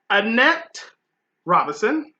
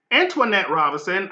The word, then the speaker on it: Antoinette Robinson: cast so we have Annette Robinson Antoinette Robinson I just said her name wrong who Laura's it's the